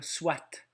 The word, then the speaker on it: soit: qui prononcent ce mot-là soit. Donc, il y a le T muet en pensant à quelqu'un qui le prononce soit.